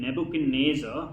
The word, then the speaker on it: Nebuchadnezzar: Judah nebuch and NASA if you cannot pronounce that name Nebuchadnezzar you can remember nebu had a razor okay nebu had a